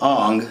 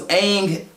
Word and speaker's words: Aang: narrating the movie, and she's saying, she said Ong, she says his name twice, Ong, but she goes, Ong, god dang it, I don't want her to say it like she said it, but she goes, Aang is an airbender who was trapped in the